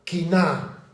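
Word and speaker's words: קנאה: Y encontré que la palabra que utiliza la Reina Valera para traducir celo es la palabra quiná, como quina, pero con acento en la A, quiná.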